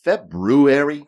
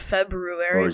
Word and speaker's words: February: Is February? It's spelled February, but it's pronounced February. February? It's weird.